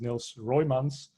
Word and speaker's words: Niels Roymans: His name is Niels Roymans, Dutch guy, so I can say his name correctly. It's kind of complicated to pronounce in English.